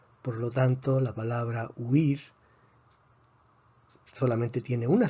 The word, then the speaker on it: huir: Huir. Huir. En este caso, otra vez, tenemos una secuencia de 2 vocales cerradas, u, i. Eso se considera un diptongo. Por lo tanto, la palabra huir solamente tiene una sílaba para efectos de silabeo.